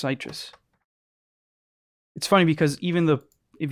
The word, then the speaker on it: Sytrus: or in another oh you thought sytrus is pronounced citrus it's pronounced sytrus funny because even the if you load up